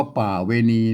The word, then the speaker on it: ป๋าเวณี: ยาก อะหยัง นะ ครับ ป่า เวที มา อ่าน ว่า ป่า เวณี นะ ครับ ประเวณี อัน นี้